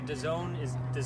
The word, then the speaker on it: DAZN: I don't know if the DAZN is that how you say it?